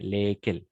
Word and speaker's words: lesquels: Et on va prononcer lesquels, d'accord? Lesquels. Pardon, Les... lesquels? Exact, lesquels. C'est ça. Toujours lesquels, auxquels.